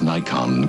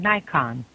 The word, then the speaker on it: Nikon: From the legend that is Nikon comes the new Nikon EM. Automatic one touch from Nikon. And don't forget this. Thank you for calling Nikon.